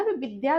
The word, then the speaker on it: विद्या: तो यह जो चीजें हैं, कह रहा है कि सार्थक इकाइयों में बांटे, ना कि विदया, विदया ददाति विनयम नहीं कहना है मुझे, यह मुझे कहना है विद्या।